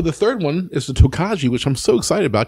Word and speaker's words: Tokaji: But the pronunciation is what looks like Tokaji is Tokaji. Oh. Is the way it's pronounced, okay.